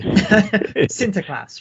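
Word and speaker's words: Sinterklaas: class and so on my my Dutch pronunciation is not very good obviously sinter class right um and of course you all you can already hear when I say that that it sounds very similar to Santa Claus Santa Claus is just the anglicized the anglicized version right it's the anglicized pronunciation of sinter class and symptom Classics itself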